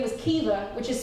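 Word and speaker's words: Caoimhe: Her name was Kiva, which is spelled C-A-O-I-M-H-E.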